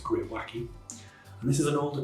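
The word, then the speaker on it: greywacke: Pyon scale and yeah it is pronounced gr wacky and this is an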